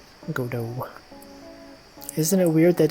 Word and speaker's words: Godot: Is Godot pronounced? Yes, it is. I know it looks like Godot. Apparently it's Godot. Godot.